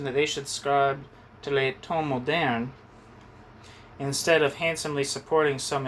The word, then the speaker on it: Les Temps modernes: I know this is annoying, but I would like to know how to pronounce this. Les temps modernes.